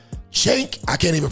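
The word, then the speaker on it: Cenk: Now, if you don't know who that is, that is a man named Chank. C E N K. Chank.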